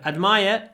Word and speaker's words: admire: So the pronunciation changes quite a lot. Admire, the verb, admiration, the noun. Admire, admiration. Admire, admiration.